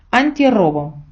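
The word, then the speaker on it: antirrobo: робо перекладається як пограбування ви звернули увагу що робо пишеться з однією ери так і ви напевно пам'ятаєте що ця р фонетично є сильною бо з неї починається слово Тобто вона вимовляється як подвійна Ера але друзі коли ми поєднаємо ці два слова друга ере з'являється І в написанні антирово те ж саме ми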